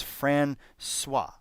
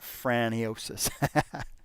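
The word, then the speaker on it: François: quarterback for the blues it's francois not franniosis i remember i used to play this game uh this baseball game on uh man it was like the commodore 64.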